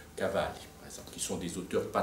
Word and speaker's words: Cavalli: et d'autres très inconnus que je prononcerai à l'italienne comme Pallavicini par exemple ou Cavalli, qui sont des auteurs